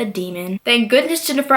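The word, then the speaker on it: daimon: I would have said Damon, but it's actually a demon.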